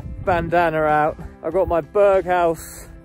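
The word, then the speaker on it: Berghaus: jack winter fleester bandana out i've got my berghouse it's how you pronounce it jumper under this jacket because this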